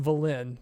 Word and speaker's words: Velen: yeah i should um or is that how you you pronounce blaine pronounced velen because thanks wizards yeah